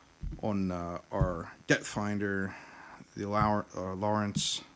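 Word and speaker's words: Lowrance: So I'm heavily relying on our depth finder, the Lawrence. How do you pronounce that? Lawrence.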